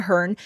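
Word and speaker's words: Herne: Um, Richard Hearn, and I'm assuming the E is silent. H E R N E. Richard Hearn, known as Hearn the Hunter, is said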